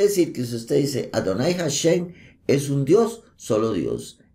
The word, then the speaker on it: Adonai: concatenado de mucha información veamos por ejemplo adonay Adonai todos todos los traducciones significa el señor o mi señor y la gente dice adoray cuándo se encuentra el nombre del eterno que